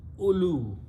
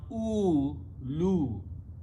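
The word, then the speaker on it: أولو: So don't pronounce oo, lu. The waw is not supposed to be. Ulu.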